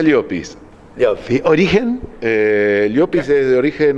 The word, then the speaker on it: Llopis: No, se pronuncia Llopis.